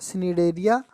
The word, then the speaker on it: निडेरिया: अच्छा, निडेरिया, वैसे सी साइलेंट होता, निडेरिया ही पढ़ा जाता है।